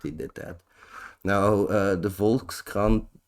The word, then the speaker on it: Volkskrant: Now, the Volkskrant, that's how you say it in Dutch, by the way. Volkskrant.